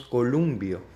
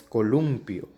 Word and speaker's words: columpio: no nos damos cuenta por ejemplo pronunciamos columbia decimos lambert en préstame nadies dijistes jugaste bailaste es verdad hay muy muy frecuente verdad entonces todos estos términos que acabo de pronunciar son barbarismos porque están mal empleados en vez de columbia la forma correcta es columpio verdad en vez de